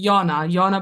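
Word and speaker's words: Jana: Is it Jane or Jenna? Actually, Yana, but you can pronounce it any which way.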